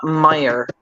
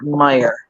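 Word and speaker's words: Meijer: I'm going to go local in my area Meer m e i j e r Meer I will uh say wind Dixie um another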